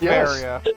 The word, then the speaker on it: Varia: in in new games do they still call it the the the Veria suit yes it's Baria I we were talking about that it's it's zeth in the uh the